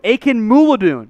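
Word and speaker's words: Akinmoladun: defensive lineman freedom aiken mutilate well i got pronunciation akin moo ladoon aiken moulidoon that's it that's 100 right i know that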